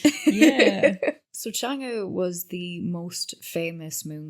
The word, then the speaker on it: Chang'e: And her name was Chang'e. Now, I'm probably not saying that right, but I think it's the E. It's spelt Chang with an E, but it's pronounced E. Okay. So it's Chang'e, I think.